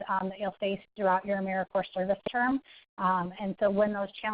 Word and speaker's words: AmeriCorps: People say AmeriCorps. It's not AmeriCorps. I know there's a P and an S on the end of it, but it's like Marine Corps or Peace Corps. So you pronounce it Corps, AmeriCorps, not AmeriCorps.